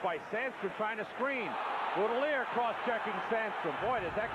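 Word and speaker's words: Boutilier: Boudelier.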